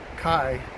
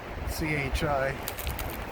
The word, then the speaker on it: chi: some symbology is uh kai c-h-i at least that's how i think you pronounce it i don't think it's chi or chai i think you call it kai anyway that represents christ